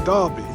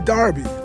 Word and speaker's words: Derby: But when you come to Derby, the people I've been there four years now, they don't say derby. They say Darby.